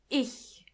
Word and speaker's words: ich: In the German language, when you see a C and a H, together they are H. It's not a strong H, but more like a softer one.